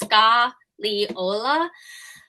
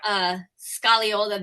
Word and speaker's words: Scagliola: It's Scagliola. That's as close as I can get. Not being an Italian speaker, Scagliola, the G is silent.